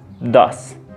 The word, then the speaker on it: does: Pero en este caso vamos a pronunciar el verbo do como si dijésemos el número en español does. Dos.